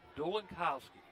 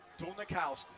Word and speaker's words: Dolnikowski: Dolinkowski, right? Dolnikowski. That's how you have to spell it.